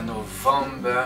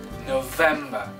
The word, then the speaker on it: November: Attention, c'est pas November, mais bien November.